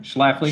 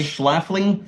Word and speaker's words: Schlafly: Yeah, how do you pronounce that? Schlafly. Schlafly?